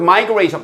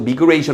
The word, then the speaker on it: migration: The word migration, 발음 조심하시고 migration 아니고 migration입니다. 자, 이주라는 그 단어는 is almost always reported.